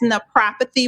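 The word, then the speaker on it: naprapathy: we understand but that's no prophecy with a p for pain relief and to not be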